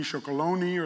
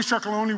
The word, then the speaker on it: Tony's Chocolonely: I think 80% of the Dutch people pronounce it wrong, say Tony, Chocolonely or something.